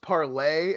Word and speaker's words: Parler: It's pronounced parlay. I mean, if you were on parlay, you would know it was called parlay.